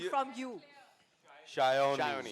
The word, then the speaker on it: Sayani: Shayoni. Sayoni. Okay, great. It's not Sayani.